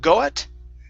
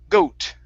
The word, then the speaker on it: goat: Okay, instead of goat with an ah sound, goa, it's goat. Bad boy the goat. Okay, now end with a good T instead of goat with a Portuguese T. Okay, pronounce the T sound.